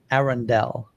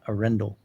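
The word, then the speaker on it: Arendal: I found out from the source, it's pronounced Arundel, not Arundel.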